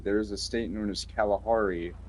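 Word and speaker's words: Calihari: Not spelled the same thing as the real life Kalahari. It It's spelled the same way as California. So, C A L A. Wait, no, no, no. Yeah. Yeah. C A L I H A R I.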